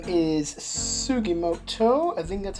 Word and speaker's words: Sugimoto: So, our main character here, his name is Sugimoto. I think that's how you pronounce his name. Yes, Saichi Sugimoto.